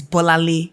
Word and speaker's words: Bolanle: when I'm in America, I'm never going to introduce myself as Bola. It is Bolanle. You're going to say it. Figure it out. Yeah. I now write it phonetically for them. Then I'll say, do you have a nickname? No, babes. No. Don't have one. It's Bolanle. If I can pronounce your name, Rachel, you can pronounce my name, Bolanle.